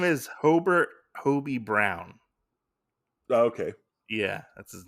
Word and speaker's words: Hobie: his name is Hobert Hobie Brown okay yeah that's his name yeah every time I kept hearing some of the other characters say his name I thought they were saying Obie yeah no I I